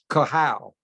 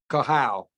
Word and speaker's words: Kahau: And obviously, Her name is Kahau. Just Kahau. like Kahau. That's how it's pronounced.